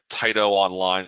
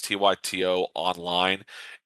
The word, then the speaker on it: Tyto Online: correct she does uh Tito online it's tyto online she builds incredible games